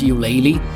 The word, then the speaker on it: Ulele: i pronounced the name it is pronounced you laylee very good food very